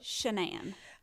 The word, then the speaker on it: Shanann: it shannon shenan or shanann from what i gathered shenan okay because her stepmom called her shannon well now for her mama the first time i ever heard it i thought they are not pronouncing this correctly but then i heard her mother say shenan and i thought well she gave birth to her so she knows well i heard her say